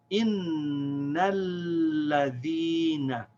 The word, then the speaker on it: innal ladhina: We say innal ladhina.